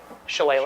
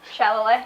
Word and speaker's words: shillelagh: Yes, someone could dispel I said that because I'm not Shillelagh. trying to pronounce it. shillelagh. Shillelagh. Shalloway.